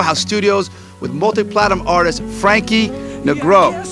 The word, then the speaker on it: Frankie Negron: This is Mike Sherman down here at the Circle House Studios with multi-platinum artist Frankie Negron. Am I saying it correctly? You said it. Frankie Negron.